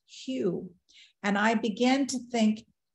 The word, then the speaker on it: Hu: ancient name for God it's spelled h-u and pronounced q and I began to